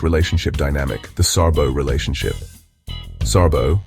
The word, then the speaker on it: Särbo: Särbo, pronounced Särbo, means living apart together.